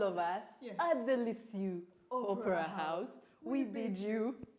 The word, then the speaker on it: Lisieux: Lisieux, or the way it's pronounced, Lisieux Opera House hosted 2,292 plants to a great